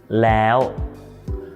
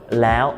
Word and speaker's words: แล้ว: The แอว sound is actually a combination of two vowels: แอ and โอะ. So, the first part, แอ, sounds like the word "air". You know, like "air conditioner" in standard British English. And then you stick โอะ at the end, so it sounds like this: แอว Some of the examples